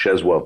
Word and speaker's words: Czesław: That's so you actually pronounce it's spelled Czesław Miłosz, but it's pronounced Czesław Miłosz.